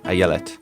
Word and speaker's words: Ayelet: Ayellet.